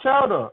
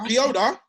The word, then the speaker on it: Chioda: Matt Chowder. I don't know how to pronounce his name. You're that veteran referee. Oh, Mike. What's his Mike Chioda?